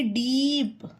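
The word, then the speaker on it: deep: ई आया है ना जिस भी वर्ड में डबल ई है तो उसका ई दीर्घ उच्चारण होगा एस L double E पी स्लीप we double E R Veer D double E पी डीप N double E डी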